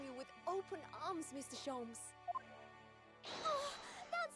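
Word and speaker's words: Holmes: if i could brian so it's not shalom's it's shomes i've been saying his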